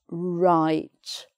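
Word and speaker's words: write: a word beginning WR, which is that you don't make the W sound, you just make the R sound. So it's right, wrong, like that.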